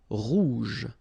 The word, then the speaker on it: rouge: Remember, G and then E, J. Rouge.